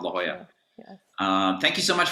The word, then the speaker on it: La Jolla: been to southern california call it la jala because it's spelled l-a-k-o-l-l-a but it's called la jolla um thank you so